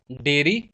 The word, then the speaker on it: diary: हमारा जो seventh word है वो है डेयरी, डायरी। इन दोनों की प्रोनाउंसिएशन में थोड़ा सा फर्क है।